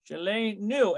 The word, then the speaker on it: שלנו: Shelenu. And notice it's going to be a shurik. That's how we get that Shelenu.